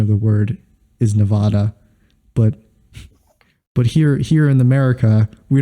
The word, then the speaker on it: Nevada: but it is pronounced Nevada. So it is pronounced Nevada. I don't know who told you it's pronounced Nevada and why Aaron you did of Game think Grumps.